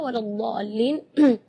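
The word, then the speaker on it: ولا الضالين: Di kalimat ini juga waladdallin yang perlu diperhatikan adalah madnya juga. Mad di situ kita harus panjang membacanya 6 harakat, karena di situ hukumnya mad lazim kalimi mutsaqqal. Jadi membacanya siti harakat, 6 harakat. Terus setelah waladh di situ ada huruf lam yang ada di atasnya ada tasydid. Itu seringkali ketinggalan waladhdallin. Nah, itu berarti tidak ada tasydidnya.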